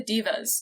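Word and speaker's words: daeva: It is pronounced diva, so sorry, supernatural. I'm glad that you looked it up. I'm just going to say Deva because that's how Sam and Dean say it, but I appreciate that you looked up the correct pronunciation.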